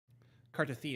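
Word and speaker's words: Cartethyia: But Cartithia is how they pronounce it.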